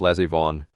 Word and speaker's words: Les Yvonne: Pronounced Les Yvonne, like my niece is the lesbian baroness of some German village.